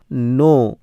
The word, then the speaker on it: knee: তো এরকম আরেকটি ওয়ার্ড আছে দেখো KNEE নি, উচ্চারণ হবে নি।